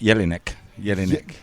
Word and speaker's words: Jelinek: Have I pronounced it right? Correct. Jelinek.